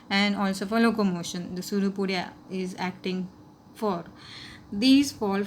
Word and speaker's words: pseudopodia: projection is called as pseudopodia. What is it called? Pseudopodia. P is silent over there, and it is called as pseudopodia.